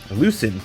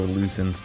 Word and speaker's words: Luisin: Today we got Onrader versus Lucian. Lucen. There we go. This is my second take here cuz I kept saying the name wrong, but I'm going to go Lucen.